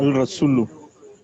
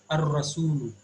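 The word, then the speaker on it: الرسول: It is ar-rasul. Because Okay. ra is from hurufu shamsiyah. So in this case, lam is getting omitted while pronunciation. Ar-rasulu.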